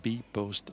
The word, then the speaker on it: Bpost: Over een goede 2, 23 seconden gaan we van start met de B-Post Bank Trofee. Het eerste deel spreek je op zijn Engels uit. Bank en trofee mag in het Nederlands.